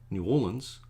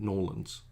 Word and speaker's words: New Orleans: So when I learned that New Orleans is actually pronounced New Orleans, or if you're very local, like Noel, I'm not going to say with the accent, but Norlands, I'm going to say it the way the locals say it.